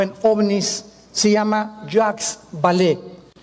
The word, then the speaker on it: Vallée: El más grande experto en ufología o en ovnis se llama Jacques Vallée, con B de Víctor y doble L.